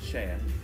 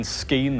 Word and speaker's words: Skien: How do you say the name of the town? Cheyenne. Oh, Cheyenne. Yes. I've been saying Skien the whole day.